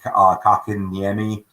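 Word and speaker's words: Kotkaniemi: Along with Philip Deneau, Joel Armia, Jesper Kakaniemi. Yes, I did pronounce it right, Thomas. One of the best things in hockey. I'm sorry. I love Jesper Kakaniemi.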